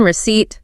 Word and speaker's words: receipt: The P in receipt, the L in salmon, the B in climbing.